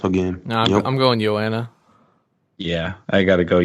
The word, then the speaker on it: Joanna: So It's Joanna. Joanna. Sure. Why is it? It's a soft J. It's like jogging. Silent Because J. she's from Poland. That's how they say it.